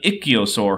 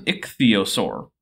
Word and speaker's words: ichthyosaur: it was giving birth an ichio sore huh so I'm actually not all that picky about pronouncing scientific names my rule of thumb is give every consonant and vowel a reasonable pronunciation and don't skip any of them this is an ichthyosaur and what about these